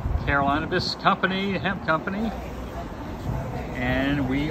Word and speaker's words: Carolinabis: Am I pronouncing it correctly? Carolinabis. Carolinabis company, hemp company.